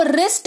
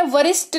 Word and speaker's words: wrist: ठीक है, जैसे WRIST, इसको रिस्ट पढ़ते हैं, वरिष्ठ नहीं पढ़ते हैं, क्योंकि डब्ल्यू का उच्चारण व होता है ना, तो वरिष्ठ नहीं पढ़ते हैं, इसको सिर्फ रिस्ट पढ़ते हैं।